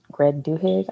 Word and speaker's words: Duhigg: By Greg Duhigg, I believe is the way you pronounce his last name.